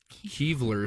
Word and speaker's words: Kylver: Kylver stone, k y l v e r stone, found in Gotland, Sweden Sweden or Goatland, Sweden.